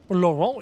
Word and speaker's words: Laurent: Laurent, you don't pronounce the T, it is Laurent.